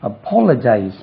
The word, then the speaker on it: apologize: அப்பாலஜைஸ், APOLOGISE, apologize. Second syllable, apologize இல்லது, apologize, apologize, apologize, apologized, APOLOGISED, apologized, apologized, apologize, APOLOGISED, apologized, apologized.